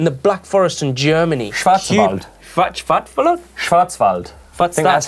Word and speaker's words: Schwarzwald: daniel yeah in the black forest in germany schwarzwald that's how you say it black forest in germany say it again schwarzwald yeah you've wall well there you go afterwards